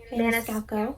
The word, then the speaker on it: Maniscalco: because i'm going to mess it up carrie maniscalco galco yes oh good for you katie you that's how you pronounce which is no still have heartless haven't